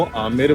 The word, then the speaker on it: Amer: अच्छा, ये अंबर पैलेस है या आमेर महल? देखो अभी आप आमेर में हो। हाँ, तो जगह को आमेर बोला जाता है जी।